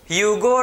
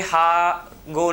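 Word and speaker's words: Hugo: तो mutation theory को किसने दिया था, ठीक है, ह्यूगो डी वरिस। तो ये हागो नहीं है, समझे ना, ह्यूगो डी वरिस, रॉन्ग प्रोनाउंसिएशन नहीं करना है, ठीक है, सही बोलना है, हागो नहीं बोलना है, ठीक है, ह्यूगो डी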